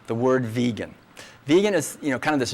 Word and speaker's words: vegan: So he wanted a nice short word, and he wanted it pronounced vegan, not vegan or whatever other ways people pronounce it.